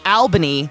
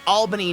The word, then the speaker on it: Albany: When I wanted to say Albany, Oregon, it was Albany, but it's Albany, New York.